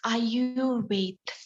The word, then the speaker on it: Ayurveda: So Ayurveda, the word pronunciation, it's Ayurveda. Okay, in Sanskrit.